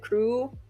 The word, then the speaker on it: Chuu: I want to note that it's supposed to sound a bit more like crew. It just doesn't translate super well into English. It has to do with the pronunciation of the L and the R.